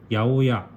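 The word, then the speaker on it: 八百屋: 동네 채소 가게를 야오야 800야라고 쓰고 야오야라고 읽는데요.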